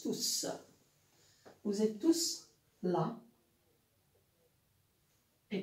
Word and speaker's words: tous: Quand le mot tout est employé tout seul, c'est un pronom et il se prononce tous.